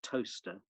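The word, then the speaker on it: Towcester: in a place called toaster which is spelt t-o-w-c-s-t-e-r uh nothing to do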